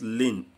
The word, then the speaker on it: ln: We pronounce it as ln, L-I-N.